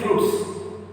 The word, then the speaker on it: fruits: This word is ending with te, silent, and adding s to make it plural.